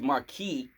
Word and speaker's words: Marquis: Like my name's Marquis, but if you pronounce the S, it's supposed to be feminine.